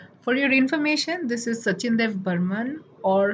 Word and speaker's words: Sachin Dev Burman: your information this is sachin dev burman or shochinde burmun as we pronounce it in bengali you might have heard